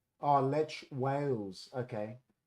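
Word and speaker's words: Wałęsa: Oh, Lech Wales. Okay. How many? Oh, yeah, well, it's you spell Walesha. Is that right? How many? Oh, yeah, because of their pronunciation, Walesha. How many?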